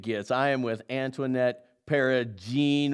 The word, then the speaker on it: Peragine: I am with Antoinette Peragine with a hard G.